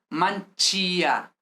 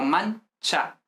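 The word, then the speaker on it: mancia: Es decir, porque vemos que, por ejemplo, en mancha no es manchia, sino mancha. La i no se pronuncia realmente, mancha.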